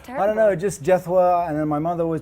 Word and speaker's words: Jethwa: really nice that's terrible i don't know just jethwa and then my mother always tells me it's